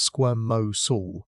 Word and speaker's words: squamosal: Squamos, pronounced squirm mo soul, one of the paired bones that form that iconic frill.